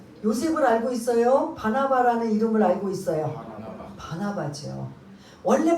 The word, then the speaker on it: 바나바: 그 강도는 바라바고 오늘 본문은 니은인 바나바예요.